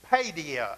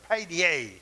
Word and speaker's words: paideia: And it's pronounced like paideia or paideia. And it's like paid, like you get paid. Only it's got the A-O on the end of it.